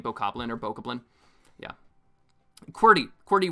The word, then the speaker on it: Bokoblin: So I pronounce it very literally as boko blin, not boka blin.